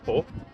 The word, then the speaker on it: Pau: Pues Pau, crec que es pronuncia Po, és una ciutat bastant gran.